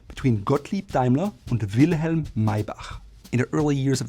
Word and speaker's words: Maybach: related to Mercedes-Benz is Maybach. And a lot of Americans would call it Maybach because it sounds like a K to CH, but in German it's called H. Everything that's CH is H, Maybach.